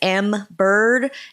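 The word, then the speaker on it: Embird: Another one that I've heard is also Mac compatible is Mbird. It's spelled E MB and then literally bird like tweet tweet.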